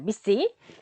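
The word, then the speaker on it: MECE: 얘를 미시라고 읽는다고 하네요. 자, 미시.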